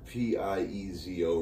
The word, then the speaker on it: piezo: I said that's right I say Piezo yeah I've heard it both ways no one ever corrects